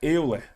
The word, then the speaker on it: Euler: né pron é pronúncia a pronúncia é eer eer não é se escreve era Alemão se eu não tiver